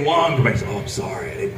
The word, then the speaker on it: Wang: name is w but I pronounced it the correct way which is Wong W denotes Central and